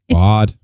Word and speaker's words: Badb: That's definitely where Matcha and Badb. I cannot pronounce that name for the Say it again. five. Badb. Badb. Bod. Bod. Okay. I don't think you pronounce that last B. I think it's just bod.